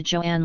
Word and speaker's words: Joan: over the pronunciation of Joan's name as that same journalist explained her mother says it's Joan pronounced to rhyme with loan 13 perhaps the difference